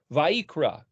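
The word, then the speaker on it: ויקרא: first word of The Book of levitis Leviticus it's spelled VAV yod kufresh aleph vaikra it's translated and he called but if you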